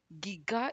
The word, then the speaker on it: giga: guides for metric prefixes formalized this as hard g so the pronunciation giga is finalized i also